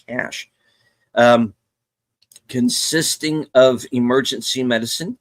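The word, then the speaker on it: CSH: the medical portion of the C S H pronounced like cash.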